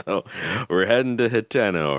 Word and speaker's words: Hateno: if I'd it like was to think about Hatino, there would be 2 E's there or an EA. So I feel like it's Hateno, especially knowing like a little bit more about how Japanese tend to pronounce their names. I have a feeling that it would be pronounced in the language it was created in as Hateno.